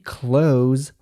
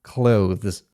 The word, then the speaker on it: clothes: Tak, wymowa jest dokładnie taka sama. Nie ma absolutnie żadnej różnicy, przynajmniej w amerykańskiej wersji języka angielskiego. Jest to jak najbardziej standardowa wymowa. Nie jest to żadne uproszczenie lub mowa potoczna. Istnieje również alternatywna wymowa słowa close. Jednak nie jest ona zbyt często używana, bo nawet nativei uznali, że jest ona zbyt trudna. Clothes.